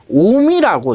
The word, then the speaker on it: 옴: 그래서 이 단위를 읽을 때 우리가 5옴 혹은 옴이라고 읽어요. 5옴 혹은 옴이라고 읽습니다.